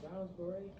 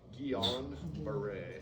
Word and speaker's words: Guillain-Barré: Browns beret? Guillain-Barré, Guillan.